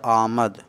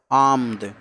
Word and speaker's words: آمد: آمد بچے گا، آمد۔ لیکن آمد کا تلفظ کچھ دشوار ہے کیونکہ 3 ساکن اکٹھے ہو رہے ہیں۔ آ، حمزہ کے بعد جو الف ہے مد کی شکل میں وہ ساکن، پھر میم ساکن، پھر دال ساکن، آمد۔ تو دشواری کی